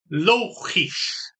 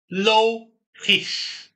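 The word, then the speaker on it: logisch: 后的形容词是这个 logis，注意一下这个发音 logis logis logis 发音比较难，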